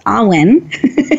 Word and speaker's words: AWWIN: I've been pronouncing it Awin, and it's Awin.